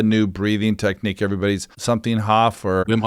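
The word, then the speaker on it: Wim Hof: But what's the new breathing technique everybody's something Hoff or Wimhof breathing?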